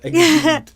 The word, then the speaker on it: exhumed: It's because it rhymes with fumes. That's why. That's it. Yeah. Exhumed. And exhaust. Yeah. It sounds like exhaust.